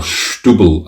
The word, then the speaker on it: Setúbal: This is the Ermelinda Freitas Muscatel de Setúbal, or Stubble as they pronounce it in Portugal.